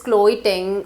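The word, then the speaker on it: Chloe Ting: weight at the earliest you can try this chloe thing workout i don't know if i'm pronouncing it right but it's c-h-l-o-e-t-i-n-g workout you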